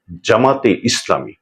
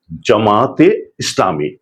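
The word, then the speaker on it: জামায়াতে ইসলামী: সহি শুদ্ধ উচ্চারণ হচ্ছে জামাতে ইসলামী অন্তস্থকে অবশ্যই উচ্চারণে আনতে হবে।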